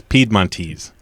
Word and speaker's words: Piedmontese: We hear it just about every way, but it's Piedmontese. Piedmontese.